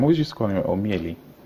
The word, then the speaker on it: Omeili: I want to say, I don't know, I'm always used to calling it Omeili. It's Omeili, actually. A lot of people misspell that, or misspell and mispronounce.